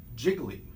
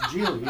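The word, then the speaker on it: Gigli: Affleck and Jennifer Lopez, looks like it should be called Jiggly, but it's pronounced Geely, and he points that out.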